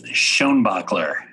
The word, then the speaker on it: Schoenbaechler: It is Schoenbaechler.